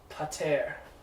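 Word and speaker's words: πατήρ: Pater.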